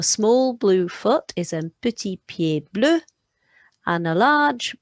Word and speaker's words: petit: We've got an E there before one consonant, so it's making that tennis player E sound. The letter I goes E. The T on the end is silent, so petit.